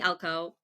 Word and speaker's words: Elko: With me is Courtney Elko. Correct me if I'm saying your last name wrong already.